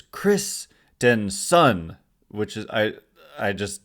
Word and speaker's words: Christenson: to get into so kristenson it's the way they the way the Giants say it's pronounced is Christenson which is I I